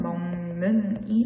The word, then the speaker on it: 먹는: 비음화는 받침, 기역, 디귿, 비읍이 니은, 미음 앞에서 이응, 니은, 미음으로 발음하는 현상으로 예시로 먹는과 같은 단어가 있는데요. 먹는 단어는 받침에 오는 기역과 뒤에 오는 니은이 만나고 있습니다. 이럴 때 기역이 니은의 소리를 닮아 마치 비음으로 변하여 나타나는 현상을 비음화라고 하는데요. 이때 기역은 니은의 영향을 받아 이응으로 바뀌게 됩니다. 따라서 먹는의 발음은 먹는이 되겠죠.